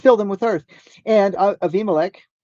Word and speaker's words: Avimelech: And Avimelech, if you're looking at like an English version, it would say Abimelech, okay? But correct, correct pronunciation on a bait in this would be vate, V, like a V sound.